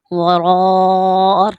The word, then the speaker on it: وراء: اوتوا الکتاب کتاب اللہ وراء، را کو پر کر کے پڑھیں گے، وراء ظہورہم، وراء ظہورہم